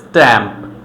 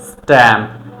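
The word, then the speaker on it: stamp: সো টি লেটারের পূর্বে যদি একটা এস থাকে তখন আমরা এটাকে ট এর মতো উচ্চারণ করব, তখন আর ঠ এর মতো বলবো না। স্ট্যাম্প কিন্তু বলবো না, বলবো হচ্ছে স্ট্যাম্প, স্ট্যাম্প, স্ট্যামিনা, স্টিল।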